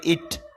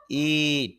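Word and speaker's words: eat: প্রথম যে শব্দটা ইএটি, এটা আমরা অনেকে বলি ইট, ইট না, উচ্চারণ হবে ইট, দীর্ঘ হবে, দীর্ঘ এই দিয়ে।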